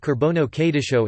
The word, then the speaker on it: ܩܘܪܒܢܐ ܩܕܝܫܐ: The Holy Qurbana or Holy Qurbono, Kurban Kudish Qurbana Kadisa in East Syriac, pronounced Qurbono Kadisho in West Syriac, the holy offering or holy sacrifice, refers to the Eucharist as celebrated in Syriac Christianity.